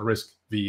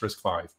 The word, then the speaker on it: RISC-V: risk i i right so it's not risk v it's risk five uh one other difference